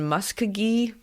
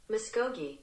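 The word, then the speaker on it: Muskogee: We're we're going to We found it online. Muscogi. Muscogi. Hey, we got it right. Muscogi. It's in Oklahoma and I wanted to say it right.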